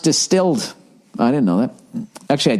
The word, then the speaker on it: DSTLD: ] stairs every morning dstld pronounced distilled I didn't know that